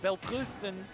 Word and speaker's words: Welterusten: Weltrusten. Yes! It's spelled like Welterusten, but Weltrusten.